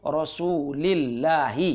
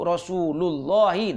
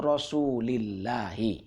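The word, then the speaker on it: رسول الله: Nah, jadi aina masjidu Rasulillahi. Nah, jadi cara bacanya gitu. Bukan huwa aina masjidu Rasulullahi. Nah, bukan begitu. Ya. Aina masjidu Rasulillahi.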